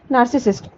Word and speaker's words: narcissist: Pronunciation क्या है? नार्सिसिस्ट।